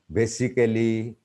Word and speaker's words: basically: So here we see many Bengali speaking people pronounce basically, practically, surgically. So a is not pronounced.